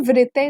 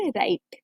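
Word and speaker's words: write: आर is like र, तो यहाँ पर इसको व्रिते नहीं बोलेंगे, इसको क्या बोलेंगे, राइट, राइट।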